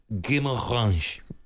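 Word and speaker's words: Guimarães: It's Bruno Guimaraes. Oh, is it? How you pronounce?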